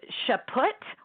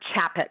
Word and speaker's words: Chaput: So Chaput or Chaput is how we say it.